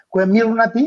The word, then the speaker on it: Comirnaty: Algo que me llama la atención, William, es este sentido de que ya probaron la vacuna, la Comirnaty, así se pronuncia según unas notas que leí.